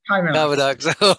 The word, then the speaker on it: Kymanox: Executive Advisor at Kymanox or Kymanox, have I pronounced that correctly? Kymanox.